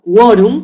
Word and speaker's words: quorum: que hemos visto antes También en estos casos la u sí se pronuncia en estos casos sí se pronuncia la u de acuerdo sería quark quater o cu que es eh una palabra latina o quorum que también es la Latina de acuerdo Entonces ha